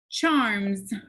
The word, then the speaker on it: charms: the word is charms charms what do you notice about the s sound at the end charms what sound is that making it says z right so we actually